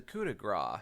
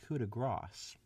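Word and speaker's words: coup de grâce: his better as the coup de gras she placed actually it's pronounced cuda grass as the coup de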